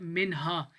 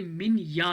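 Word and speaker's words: minha: ये जो एच है ये वाई की आवाज़ निकालता है, दिस इज़ नॉट मिन हा, ये मिन या है, ठीक है।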